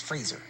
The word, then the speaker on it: Fraser: back in the day, where he said, "It's Fraser.